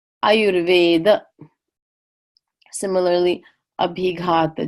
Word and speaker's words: Ayurveda: big hot the jaw so that terminal a is pronounced uh not ah so that's why in India you'll never hear anyone say yoga or Ayurveda because that last aa is just a schwa sound ER is just an